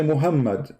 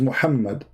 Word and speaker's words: Muhammad: Like now, you say Muhammad, but there's no Muhammad. It is Muhammad.